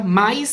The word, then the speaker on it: mas: pelo contudo pelo todavia na oralidade nós costumamos pronunciar esse mas com um i entre o ar e o s então é muito comum